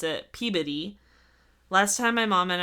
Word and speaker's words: Peabody: So not in Salem, but according to the locals, it's spelled Peabody, but the town next to it, they pronounce it Peabody.